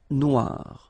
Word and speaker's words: noir: it's quite funny because you will have to add this at the end of Noir for the feminine form but then you don't pronounce it okay so phonetically it is exactly the same no Noir Okay g